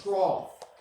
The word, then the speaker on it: trough: O-U-G-H makes that F sound in English. Okay, so like think about it like rough, right? We don't spell rough with a F, we spell it O-U-G-H, right? So that's trough.